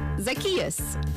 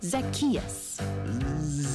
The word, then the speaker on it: Zacchaeus: that uh like this zacchaeus what no it's like zach just say it after me zacchaeus zackarecka dingdong all right